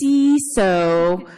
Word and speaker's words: CISO: Minus three, wrong pronunciation. It's CISO for information security. I mean, it's information, right?